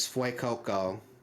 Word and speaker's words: Fuecoco: Um, the fire type is Fuecoco, which depending on how you pronounce it, fue like fuego, like hot in Spanish, Yeah.